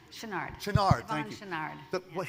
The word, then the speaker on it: Chouinard: Chouinard? Chenard.